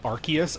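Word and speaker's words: Arceus: Apparently the correct pronunciation is Archus. I'm not calling him that. His name is Arus to me.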